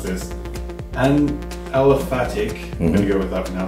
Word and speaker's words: aliphatic: So basically, a rubber molecule is a, I'm going to mispronounce this, an aliphatic, I'm going to go with that pronunciation.